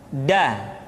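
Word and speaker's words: د: Nah, kesalahan yang sering dilakukan adalah menyentuhkan ujung lidah dengan langit-langit. Da. Kemudian kesalahan berikutnya yang sering muncul adalah melupakan sifat qalqalah yang dimiliki oleh huruf da.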